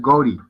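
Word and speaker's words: गौरी: Entonces ellos en su pronunciación angla te lo transliteran como Gauri. Pero se pronuncia es Gori.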